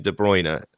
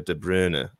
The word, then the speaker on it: De Bruyne: I think of like Kevin De Bruyne. That's how everyone knows him. But his name is more of like a De Bruyne, or, you know, it's not quite that.